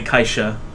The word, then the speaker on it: Caixa: It's definitely Kaixa. Caixa.